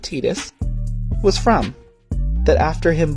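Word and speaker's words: Tidus: was a place that the main character Titus I refused to pronounce it tetus was from that after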